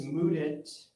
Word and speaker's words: Mudit: My name is Mudit. That's spelled with the words mud and it back to back.